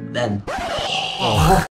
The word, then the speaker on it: Van: 音，来跟着念一遍 Van。